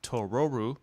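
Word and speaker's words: トロル: probably because of the difference between tororu the Japanese pronunciation of troll and Totoro would have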